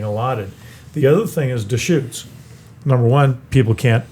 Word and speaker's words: Deschutes: And that's smart, because you guys have the Virginia Deschutes or Deutsches. No, they can't pronounce it in Central Oregon.